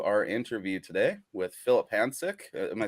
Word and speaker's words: Hanžek: Welcome to our interview today with Filip Hanžek. Am I saying that correctly? I usually just call uh, you Boris. uh, my surname is pronounced Hanžek, but that's okay.